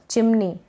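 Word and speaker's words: chimney: जरूर करें ये है चिमनी क्या है चिम और नी चिमनी ये एन है ना एन का न बन गया और इसके ऊपर ये ई वाई बड़ी की मात्रा के रूप में चला गया तो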